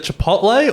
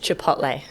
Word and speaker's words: Chipotle: the first question uh is it Chipotle or Chipotle oh look I've heard it pronounced so many different ways I go with Chipotle nice definitely not Chipotle a bit about the